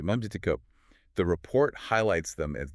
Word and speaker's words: Memcyco: They spotlight a company called Methico, pronounced Meio. Yeah, right. Meico.